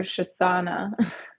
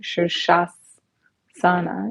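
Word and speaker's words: Sirsasana: pronunciation so Jean new shoes Sana yeah that throws me though they have a weird phonetic spelling on that but it's s-i-r-s-a-s-a-n-a so it's a bit of a tongue twister sir sure say that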